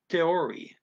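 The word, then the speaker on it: theorie: to his own theory it looks like the word theory but it's it's that they don't pronounce ch's and neither dutch nor german so it's teori kaiori so according to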